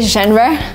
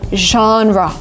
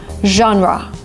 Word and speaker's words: genre: I know a lot of people say genre, which is, again, kind of logical when you try to read the word, but because it's a foreign word, we say genre, genre.